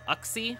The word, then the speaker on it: Uxie: um I'll uh we could confirm with the Pokedex 3D later but is it Uxie yuksi um oxy I've heard that one as well which is not my favorite one but yeah just out